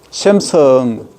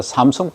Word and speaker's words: 삼성: 샘성, 미국 가면 샘성 합니다. 삼성 발음면 샘성 하면 샘성.